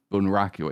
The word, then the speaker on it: bunraku: And he's challenging the puppeteers as they do, because the puppeting style is called bunraku, I think. Yeah, that's the pronunciation.